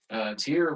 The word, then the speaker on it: Tyr: is Tyr Anasazi, and his name is spelled like that. Oh, okay. Yeah, but it's pronounced Tyr.